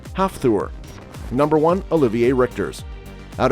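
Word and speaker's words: Hafþór: those who are curious his first name is pronounced half ther number one Olivier rter out of everyone on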